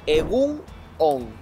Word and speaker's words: egun on: Egunon, se dice todo pegado.